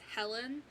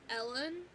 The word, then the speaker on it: Helen: is fucking great, or they would purposely say my name wrong, because, like, most times if I introduce myself and I say, hi, my name is Helen, they're like, oh, Ellen?